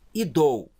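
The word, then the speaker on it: ἰδού: Idou, ó, iota, delta, ômicron e y, junto tudo, ó. Idou.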